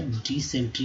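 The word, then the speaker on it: dysentery: दस्त, डाइसेंट्री, डाइसेंट्री यानी दस्त। क्या स्पेलिंग याद करिए फिर से दोस्तों, जैसे डाइसेंट्री से अच्छा डिसेंट्री बोल सकते हैं, डिसेंट्री। तो डाई का उच्चारण लगेगा डिसेंट्री, डिसेंट्री।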